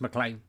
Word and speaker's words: McLean: McLean McLain I mean he spelt McLean is pronounced McLain that's what I think that's